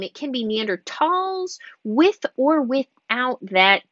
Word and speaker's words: Neanderthal: it was originally named german had a lot of silent h's in its language since then it's german has actually removed a lot of those h's so that's why in the common name we can remove that h however because scientific names